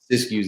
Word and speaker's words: Siskiyou: Is that how you pronounce it? Siskiyou, yeah.